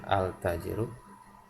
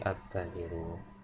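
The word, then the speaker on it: التاجر: Jadi bukan kita baca bukan al tajiru, tapi at-tajiru.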